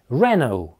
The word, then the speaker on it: Renault: Renault, с ударением на первом слоге. Renault, или, как можно сказать, Renault. Renault, то есть вторая модель находится под напряжением.